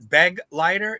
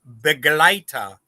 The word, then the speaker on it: Begleiter: It's not Begleiter, it's Begleiter. So, like a glide, you combine the Begleiter together.